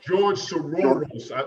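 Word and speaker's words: George Soros: Soros, if I'm pronouncing it right. Right. You got it.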